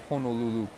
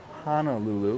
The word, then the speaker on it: Honolulu: By the way, it's not Honolulu, it's Honolulu. Just trying to help you pick up on these pronunciations eventually, because then people will know if you're a local or if you're a mainlander, right? Mainlanders say Honolulu. Locals know how to pronounce it. It's Honolulu. Over here we have Lahaina Pizza Company.